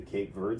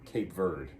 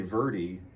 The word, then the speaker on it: Verde: we call it kate i call it cape verde i'm not going to say verdi and it isn't verde